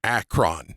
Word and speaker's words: Acheron: Acron. That's it. There's no extra e r is not pronounced.